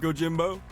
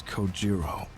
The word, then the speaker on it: Kojiro: The way he deliberately mispronounces my name really bothers me. It bothers me so much that the anger boiling inside me gives me the strength to open my mouth once more. It's Kojiro.